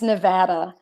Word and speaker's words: Nevada: so sorry how what how do people who live in Nevada pronounce Nevada ah its Nevada it's so hard because if you pronounce it phonetically it looks like it should be Nevada okay like you're on